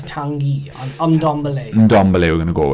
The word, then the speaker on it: Tanguy: When we did our transfer videos, I was pronouncing it Tongai, but I think it's Tanguy on Ndombele.